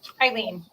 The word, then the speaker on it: Ilene: So, Ilene, do you want to, and I never work out if it's Ilene or Eileen, so forgive me to start with. Eileen. Eileen. Like the song, Dexy's Midnight Runners, and Eileen, yeah.